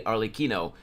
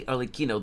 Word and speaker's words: Arlecchino: They say Arlecchino, but they don't read it correctly. They don't say Arlecchino, they say Arlecchino.